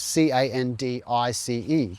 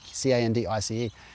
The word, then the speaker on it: Candice: written Candice, I guess, C-A-N-D-I-C-E, C-A-N-D-I-C-E. And so a lot of people would say Candice when they see that name instead of Candice, but her parents named